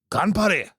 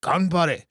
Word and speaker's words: Ganbare: Ganbare. If you didn't know how to say that shit, you can do it in Japanese before today. You certainly learned how to say it today. Ganbare.